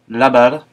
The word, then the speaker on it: lavar: B et V se prononcent de la même façon, l'espagnol ne faisant pratiquement pas de différence entre ces deux lettres. Bien, bien, bien. Lavar, lavar, laver.